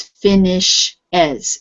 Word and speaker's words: finishes: the way it is you have to add e s on the end and it's finish as so it's adding another syllable finish is two syllables finish and when you